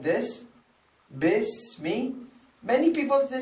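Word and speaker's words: بِسْمِ: So no, iqra bismi. Yes, I see alif, but this is cancelled alif. This was written in the calligraphy in Arabic language, but not pronounced. Because of this, there is a sign which tells you not to pronounce this alif.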